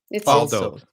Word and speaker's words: valdood: I want Valdoos. something I'm going to use all the time. Fuck, that is val dood. Valdoos. Val dood. Fall Valdood. dood. Fall dood. Val dood. It's Valdood.